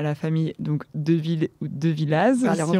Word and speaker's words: De Villaz: Alors, on va dire Deville. On dit Deville, voilà. Alors je dis Deville. Donc, c'est écrit De Villaz, vous l'aurez compris. C'est écrit De Villaz, on ne prononce pas le Az.